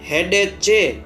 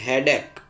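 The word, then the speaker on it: headache: लिए क्या है हेडेक यहां पढ़ने में मिस्टेक हो जाती है उसके स्पेलिंग की वजह से एच ई ए डी एस एच ई हेडे च पढ़ना करई लोग गलत से करते हैं सही है हेडेक हेडेक मतलब सिर दर्द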